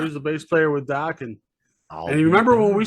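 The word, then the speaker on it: Dokken: Rhymes with rockin'. Dockin? No Dockin. Yeah. Jeff Pilson was he was the bass player with Dockin.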